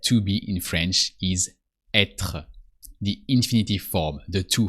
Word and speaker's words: être: So first, you need to know that to be in French is être, the infinitive form, the to form.